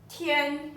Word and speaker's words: 天: So, basically, here we're gonna write down important thing called fu, jing, ru, tian. 10. Yeah. Okay, That's I'm good. gonna put down the pronunciation.